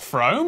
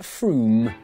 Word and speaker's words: Frome: Wrong, it's not Frome. F-R-O-M-E, it should be blitheringly obvious, is pronounced Froome.